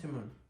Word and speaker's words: Timon: Timon.